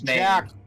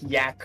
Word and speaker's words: Jack: So it's a deep it's speech like my name derived is Jack. Yeah. My name is still Jack wherever I go, right? So just some people would say it like yak or something.